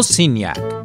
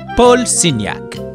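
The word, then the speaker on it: Signac: painters in art history it's george surat and paul siniak or as the french pronounce george's surah and polsiniak if i'm not pronouncing them right please excuse my french even picasso made some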